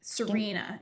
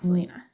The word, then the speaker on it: Serena: Serena, not Selena. Oh, Selena. Serena. Oops.